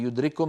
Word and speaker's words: يدرككم: لاحظوا بأن الكاف في يدرككم من المتماثلين، التقى كاف وكاف، كاف وكاف، فالكاف الأولى ساكنة فأدغمناها في الثانية فصار النطق بكاف مشددة.